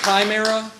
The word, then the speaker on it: chimera: It's the chimera. That's right. That's right. It's actually pronounced chimera.